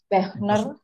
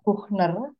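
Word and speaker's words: Büchner: Wilhelm Wilhelm Wilhelm Helmut Karl Schäfer, uh, George Bechner, mm-mm. Wilbur, sorry, Wilbur itu kota dari Iya, Karl Schäfer berasal. Tapi yang terkenal memang dua pemimpinnya, Karl Schäfer dan satu lagi disebut Georg ya bacanya, mm-mm. Georg Buchner.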